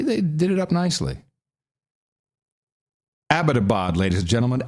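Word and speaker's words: Abbottabad: page though they they did it up nicely abadabad ladies and gentlemen abadabad not abadabad and one guy you'd expect to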